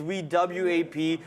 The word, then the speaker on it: VWAP: just v-wop in question it's spelled vwap the way you have it spelled is V w-o-p that's not the way how you spell it it's wewap you can go to